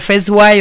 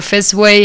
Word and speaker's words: Fesway: Entonces, se puede pronunciar Fezway o Fezway en inglés.